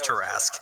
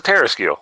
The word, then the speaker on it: tarrasque: don't mind overwhelming weight it's not pronounced task you know it's tarrasque right I was always like when I was first learning DB was like oh this is a Terrace keel well it's like if